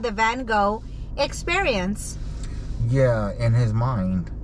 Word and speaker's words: Van Gogh: was his name because it's not van gaal it's van gogh you've been saying that